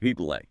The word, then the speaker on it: Pelé: So, where did the name ple come from? It's another one of these wonderful almost accidental stories. He was a fan of a local goalkeeper named Bele Ple, right?